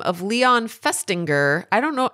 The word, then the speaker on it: Festinger: A psychologist by the name of Leon Festinger, I don't know how you say his name, Festinger, it's F-E-S-T-I-N-G-E-R.